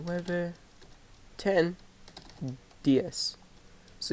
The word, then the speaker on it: diez: 10, diez. So even though there's a Z, you still pronounce it as an S.